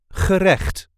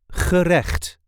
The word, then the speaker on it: gerecht: a regular Dutch accent gerecht, or dish in a restaurant in English. This is the way we say gerecht. Gerecht. I know that pesky Dutch g twice in this word.